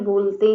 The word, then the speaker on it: bowl: BOWL, इसको बहुत से लोग बाउल बोलते हैं, वो गलत है, तो आप प्रोनाउंसिएशन पर ध्यान दीजिए. इसको पढ़ा जाता है बोल, यानी कि बड़ा कटोरा या कटोरी.